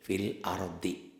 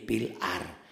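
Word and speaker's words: في الأرض: Ini nih fil ardi. Banyak orang yang baca dihentikannya jadi pilar. Kalau pilar do-nya hilang dong. Itu. Ini kan ini hidup. Kalau dihentikan do ini kan jadi mati.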